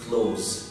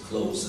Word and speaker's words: close: تمام، اسهل نطق ليها انك تنطقها زي ما بيقفل يفتح ويقفل الباب، قول close close، لكن ما فيش حاجة خالص اسمها closes.